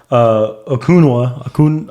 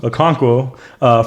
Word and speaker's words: Okonkwo: For example, Okunwa, how you say his name? Okonkwo from Maryland, tight end, ran a 4.52.